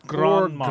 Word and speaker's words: Grand Marnier: It's Grand Marnier.